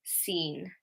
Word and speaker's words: scene: So we've got scissors, muscle, scene. Okay, with these, the C is silent.